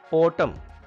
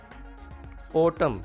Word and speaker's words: autumn: it is not subtle subtle means fine precise autumn autumn and is silent here you know it is a season